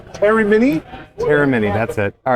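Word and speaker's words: Eremini: Just pronounce the name. Terry Mini. Terramini.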